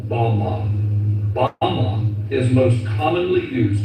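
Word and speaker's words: בָּמָה: which Satan fell is strong Hebrew word 1116 pronounced Bama Bama is most commonly used to refer to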